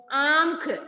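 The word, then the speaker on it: आंख: വാക്കുകൾ ഇവിടെ കൊടുത്തിട്ടുണ്ട് നോക്കിക്കോ ആംഖ് എങ്ങനെ ഇത് വായിക്കുക ആ എഴുതിയിട്ട് മുകളിൽ ചന്ദ്രബിന്ദു ഇടുമ്പോൾ ആം എന്താണ് ആം ആംഖ് ആംഖ് എന്നാണ് പറയുക ആംഖ് എന്താണ് ആംഖ് മീൻസ്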